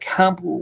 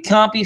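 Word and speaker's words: Kuopio: born and I said it wrong I said couple was copy copy right okay copy finland where there is now a famous shopping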